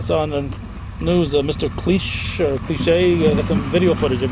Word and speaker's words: Cliche: Cliche is your name? Yes, that's right. And it's spelt like cliche, but no Without the accent. no That's accent right. on the E.